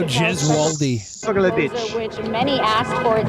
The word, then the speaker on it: Gesualdi: Vito Garibaldi. Corleone. Vito Gaspucci. Amerigo Vespucci. I think it's pronounced Vito Gesualdi.